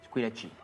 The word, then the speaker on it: Squillaci: Au nom de Squillaci. Squee? Lachi. Squillaci. Avec un chi, comme ça se prononce.